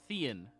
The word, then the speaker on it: Thean: Or Thean. Thean. Like Ian, When- but Thean.